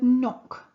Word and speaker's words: knock: K here we have the word knock you can knock on a door again with a silent K at the start here we